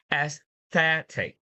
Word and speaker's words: aesthetic: Whenever you see the word end with IC, you need to put a stress before it. You need to put a stress before it. So it will be pronounced aesthetic.